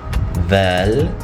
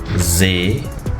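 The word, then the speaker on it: ظ: Dhal. Um, ra. Zay. Sin. Shin. Ah, sad. Dad. Um, ta. Ah, ta. Ah, there are two pronunciations for this you could say za, like za or dha, dha.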